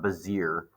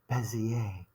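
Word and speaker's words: Bézier: handouts drawing a bezier that's pronounced that's not bazir that's it's uh French or Belgium so it's a bezier curve so it's very fancy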